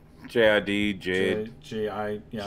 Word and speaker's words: JID: JID, Jid.